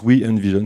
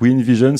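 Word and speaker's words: WEnvision: ans we and vision ça se prononce we and vision c'est pas si facile à à retenir mais je j'insiste donc we and vision c'est le conseil stratégique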